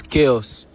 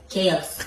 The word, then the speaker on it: chaos: seat pronounce this word say what it is chaos chaos yes the CH is pronounced as okay sir say it chaos pronounce